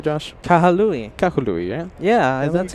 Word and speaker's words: Kahului: Is that how it's pronounced correctly, Josh? Kahului.